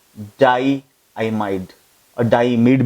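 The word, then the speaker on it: diimide: जानते हैं ये NH डबल बॉन्ड NH को हम लोग क्या कहते हैं, हम इसे कहते हैं डाई आइमाइड. इमीड भी बहुत सारे लोग प्रोनाउंस करते हैं, डाई इमीड भी बोल सकते हैं.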